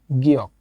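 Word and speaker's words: 기역: গিয়ক, যেটা বাংলা উচ্চারণ হবে গ, ঠিক আছে।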